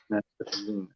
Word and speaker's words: Metaluna: Like it's meta and then Luna for moon. Metaluna. Metaluna.